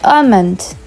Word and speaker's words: almond: albeit albeit it means although next one is almond almonds the L is kind of saline in